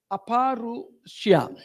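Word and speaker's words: अपौरुषेय: Actually, exact pronunciation is Abharushya. Aparushya.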